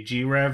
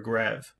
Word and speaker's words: G-Rev: Do you pronounce the company G-Rev or Grev? I've heard them pronounce it both ways. Okay. The Japanese I've heard they used to say Grev.